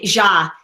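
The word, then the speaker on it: Jha: his name is um dr hashish is how you say ja j j h a hashish j h a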